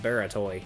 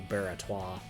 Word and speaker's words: Baratois: I think I've been pronouncing that Baratoy in previous videos, but I think it's supposed to be Baratois.